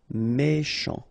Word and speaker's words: méchant: C-H together, sh. Méchant, méchant.